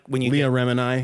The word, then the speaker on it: Remini: I mean, it's just like when you Leah get, Remini. When you get say it like Gemini.